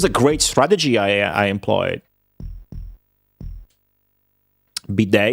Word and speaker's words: bidet: Bidet is an Italian word. No, it's a French word. You can tell because it ends with a T that you do not pronounce. That's a French thing. Bidet.